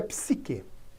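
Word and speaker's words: ψυχή: um corpo de ferro a palavra alma em grego e ela se pronuncia psique a ivânia temas sik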